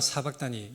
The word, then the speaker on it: 사박다니: 어 히브리어는 아저브인데 이게 아람으로는 사박단니입니다. 사박단니. 엘리엘리 리마 사박다니. 이것이 아람의 발음입니다.